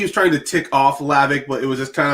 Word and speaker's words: Hlavac: butcher that man like it's not that hard the h is silent yeah i think it was just more of the the more not like he was trying to tick off lavic but it was just